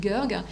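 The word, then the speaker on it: Goerg: Odile Gerg, alors ça s'écrit G-O-E-R-G, Odile Gerg, et elle a publié un ouvrage qui s'appelle Fantomas sous les tropiques.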